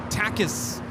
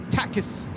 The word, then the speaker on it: Takis: She calls them tacis. And it's just so weird cuz you're like yelling at the screen like that's not how you say it. Takis.